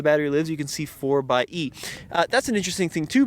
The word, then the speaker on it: 4xe: 4xe is a play on words of 4x4, and the E kind of looks like a plug, but it is pronounced 4xe.